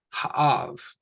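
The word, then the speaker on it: האב: And we have an aleph, which is silent, and another ah sound. And then we're going to end with a the. So ha'av.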